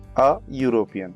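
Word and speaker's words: European: इसका जो प्रोनाउंसिएशन होता है वो यूरोपियन से होता है, यूरोपियन। तो देखिए यहाँ पे या आ रहा है, ये या, तो या एक स्वर के रूप में नहीं लिया जाता, ये व्यंजन है यानी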